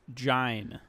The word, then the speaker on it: Jean: and actually his name is pronounced Jain yeah Joelle d it